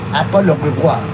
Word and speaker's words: Apollon Rivoire: And Paul Revere was the son of French Huguenot whose father was named Apollon Rivoire. Apollon Rivoire, like Apollo River.